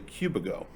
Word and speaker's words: Cubigo: so a bit of trivia as you heard at the beginning i mispronounced the name of the product it is actually cubico that's how we call it yeah yeah and